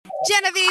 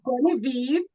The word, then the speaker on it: Genevieve: I'm happy to so Jill actually got my name perfectly it is a French name but in English it's Genevieve has a lot of syllables so it is Genevieve is indeed my